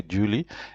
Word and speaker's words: Julie: We are with the, okay, in French we always say Julie. So in English I know you say Julie. But in French it is Julie. There's how you pronounce it. It's smooth like Julie.